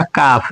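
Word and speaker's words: calf: ये हो गया काफ। एफ के पहले एल आ गया तो एल को नहीं पढ़ेंगे।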